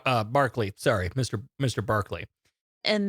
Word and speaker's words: Barclay: And then Barkley excuses himself and then data comes up with like meta metathesis is the most common of pronunciation errors. A reversal of vowel and consonant bark to Brock and then he stops himself.